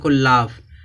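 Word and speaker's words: laugh: यहां पर देखते हैं यहां दिया लाफ लास्ट में क्या आया है जी एच आया है जब लास्ट में जी एच आया है तो जी एच क्या हो जाएगा साइलेंट इसको क्या पढ़ेंगे लाफ लाफ माने हसना फिर यहां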